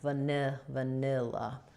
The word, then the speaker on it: vanilla: This is an I sound stressed in the middle syllable, like the word nil. Last A says and first A also says So not va or va, but just a short little va and la at the end, vanilla.